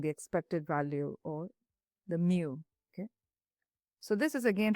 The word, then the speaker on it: mu: So mu mu is how you pronounce it.